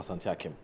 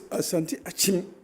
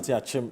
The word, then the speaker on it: Asante Akim: The pronunciation of that is it Asante Achim or Asante Akim? No, it's Asante Achim. Oh. It is the brothalization that brings Make it Akim. No, we don't have anything like Akim. Akim. We have it's Achim. Asante Achim North.